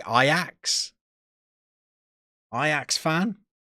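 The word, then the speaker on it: Ajax: gonna say I ax iax fan you pronounce it iax when you're pronouncing it properly by the way help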